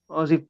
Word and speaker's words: Azzi: Am I Am I pronouncing her name correctly? Azzi?